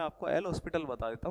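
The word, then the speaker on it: L'Hôpital: Pronunciation अलग होता है, एल हॉस्पिटल होता है प्रोनाउंसिएशन जो होता है, बाकी लिखते इस तरीके से, ठीक है।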